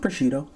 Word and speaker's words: prosciutto: Now, there are many ways that you can pronounce this incorrectly. Go with prosciutto.